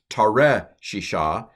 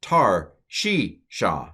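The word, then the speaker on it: תַּרְשִׁישָׁה: tar consonant vowel consonant so this schwa it's not tare she sha it's tar she sha and the accents on the she if you look in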